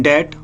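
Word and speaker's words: debt: Question 15, the company is इन डेट, इसको डेप्ट नहीं पढ़ते, इसको बोलते हैं डेट। इसमें बी क्या होता है, साइलेंट होता है।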